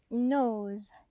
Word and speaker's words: nose: Nose. It has a long O on N-O-S-E.